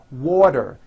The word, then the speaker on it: water: water is pronounced as water the t turns into a d and the whole word is voiced water I want water